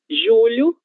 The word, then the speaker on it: julho: Observem, esse LH, ele tem som de ilha. Lha, assim como foi pronunciado adequadamente, julho.